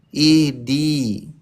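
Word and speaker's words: اهدِ: Ihdi. Nah pakai H ketawa. Ihdi.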